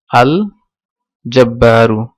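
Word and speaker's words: الجبار: আর জিম দেখবো আমরা আল জব্বারু, তাহলে লাম এটা উচ্চারিত হয়েছে, তাহলে এটা কামারি।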